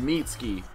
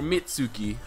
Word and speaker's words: Mitsuki: comes through the man's mitski or mitsuki whichever you prefer to pronounce it as the man's mitski